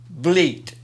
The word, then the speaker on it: Vliet: How do you say Billy Van Vliet? Vliet. That's what I said.